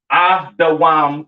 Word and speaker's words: Edom: Pronounced Adawam in the Hebrew, all right? Edom, Adawam. Excuse me.